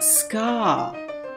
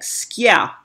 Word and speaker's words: ska: Now the British call it ska, but it's not skia. You pronounce it with a Y, like S-K-Y-A, like skia, skia. Ya has to be in there.